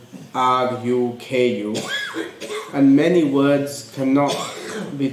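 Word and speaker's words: ركوع: The word in Arabic would be pronounced as ruku'. It has a waw, sakin, which has a jazm, and also at the end it has an ayn. So it'd be ruku' with an ayn at the end.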